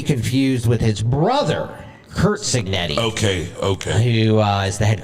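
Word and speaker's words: Cignetti: How do you pronounce it? Signetti. Signetti.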